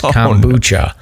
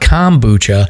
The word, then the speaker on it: kombucha: and she's like it's kombucha and I was like but it's not kombucha and she's like yeah but you can't emphasize the a just say it quickly and I was like